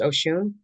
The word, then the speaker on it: Oshun: Usually Oshune in Yoruba has a tat umlot thing over the U, but it's pronounced Oshune.